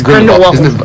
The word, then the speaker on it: Grindelwald: Yes, Grindewald. I think they pronounce it with a V that sound though. Grindewald.